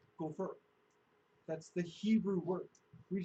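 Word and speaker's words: גֹּפֶר: get to that word, it's actually pronounced gopher.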